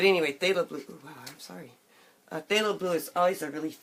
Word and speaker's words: phthalo: they'll green and it's ph ph th alo I think that's failable that's how I pronounce it that's how my professor is pronounced it so that's how I'm pronouncing it phthalo blue but anyway